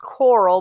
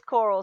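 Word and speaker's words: Corll: name is Dean Coral it is pronounced Coral but it's not spelled with the a you know at the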